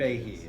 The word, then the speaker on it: Feige: Feige, okay. I've been pronouncing it wrong to myself all I've day.